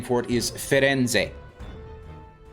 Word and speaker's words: Firenze: Called Firenze. Yeah, Florence. The English name for the city is Florence, but the Italian name for it is Firenze.